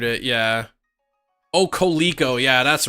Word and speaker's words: Coleco: Colico, yeah.